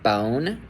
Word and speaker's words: bone: So, this is OE So for the word like bone, you're going to hear the O, then you're not going to hear the E at the end. The E is silent. It's a long O.